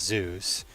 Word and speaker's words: ZUS: ZUS, which you can pronounce as Zeus.